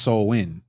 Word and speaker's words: Samhain: Is it Samhain? Oh, it's pronounced Samhain. Salakia. Okay, the Samhain. That's how it says it's pronounced.